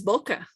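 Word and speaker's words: bucca: It's boca in Latin. But the pronunciation? No, boca, like in Spanish.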